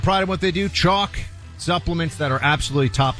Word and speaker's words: Choq: Chalk is spelled CHOQ.